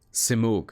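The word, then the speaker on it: Simurgh: here she's taking heran to the simor gate simor that's how you pronounce it theab ban may be right about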